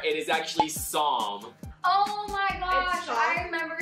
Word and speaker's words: Psalm: It starts with a P, but the P is silent.